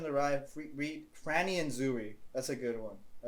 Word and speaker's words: Zooey: If you're reading Catcher in the Rye, read Franny and Zooey. That's a good one. Or Zoe. It's just 2 O's with the name Zoe. It's Zoe.